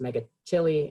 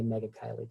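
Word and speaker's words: Megachile: substrates as well and as much as I want this to be called to be pronounced mega chili it's not to make it kylie and it's the family mega kylie be another group in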